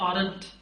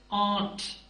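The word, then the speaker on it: aren't: आप क्या प्रोनाउंस करेंगे आमतौर पर जो जवाब मिलता है वो होता है आरट देखिए इट्स नॉट आरट पहले बता चुका हूं एक्सेंट रिडक्शन में कि आर जो है वो बहुत साइलेंट होगा म्यूट होगा सो दिस इज आट सो इसके बाद अगर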